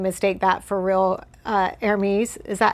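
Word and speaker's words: Hermès: Uh, armes. Is that how you say it? Hermes. Right. You don't pronounce the H.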